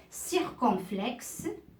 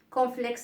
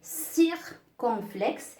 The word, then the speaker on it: circonflexe: Et comme je dis à mes élèves en classe, ce n'est pas complexe avec quoi vous prenez le matin avec du lait, dans un bol du lait, mais non, c'est circonflexe.